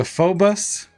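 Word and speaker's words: Phoebus: Um, so the Phobus, that's how it's pronounced pronounced.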